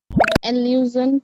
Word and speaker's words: allusion: Pronunciation is allusion. Allusion. Allusion. J sound hai wo. J nahi. Allusion.